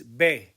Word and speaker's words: ve: ere point number four the v and the b are in green why are they in green because they are pronounced the same bay and bay we don't say they it's bae now since both are